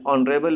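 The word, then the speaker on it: honourable: दो this word begin with H बट ही हैज़ a vowel sound. N ऑनरेबल position an honest man. This is because H is silent in these words, क्योंकि यहाँ पर H silent है।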